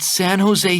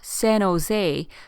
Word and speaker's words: San Jose: 여기서 San Jose 발음을 주의해야 하는 게 이게 San Jose가 아니라 San Jose라는 거죠. 미국에는요, 스페인어로 된 도로명, 지명, 학교명이 많기 때문에 발음에 걸려서 넘어지는 경우가 많아요. 특히 J가 스페인어에서는 H로 발음이 되고 double L이 Y 발음되기 때문에 스페니쉬 단어에 익숙하지 않은